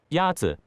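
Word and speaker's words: 鸭子: Yazi. Is pronounced with a first tone.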